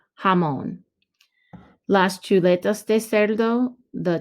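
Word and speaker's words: jamón: el jamon el jamon don't forget the accent mark it's not jammin remember the j sounds like ha jamon las chuletos de serdo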